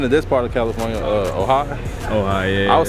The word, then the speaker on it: Ojai: I haven't been to this part of California, Ojai. Ojai, yeah. I was saying Ojai for the longest. I ain't know how to pronounce it, but yeah. That's Ojai.